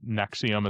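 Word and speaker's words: NXIVM: I don't know enough about it other than Nexium is how you say it.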